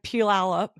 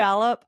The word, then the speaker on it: Puyallup: When I'm not listening to PATW, I'm slanging shears at Style Bar Salon and Puyallup. Did I say it right? Yeah, now that Puyallup, Washington, or jamming out with my cover band 90s Rewind.